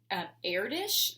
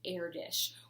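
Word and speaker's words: Erdős: and it's actually pronounced heir dish it's e-r-d-o-s but the way that it is pronounced is air dish we're gonna learn a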